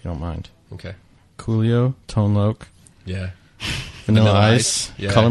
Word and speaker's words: Tone Loc: Well, I was born in 87, so give me a Wait, that's how I pronounce break. It's Loc. It's Tone Loc.